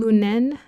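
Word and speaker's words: Lünen: Born in Lunen, Germany, Echer Lee grew up in an tense, often joyless atmosphere with parents whose relationship was filled with conflict.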